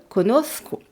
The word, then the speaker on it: conozco: Mais au lieu de rajouter un O, je remplace par ZCO, ce qui donne conozco.